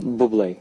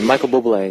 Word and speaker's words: Bublé: Bublé. Bublé. Yeah, Michael Bublé.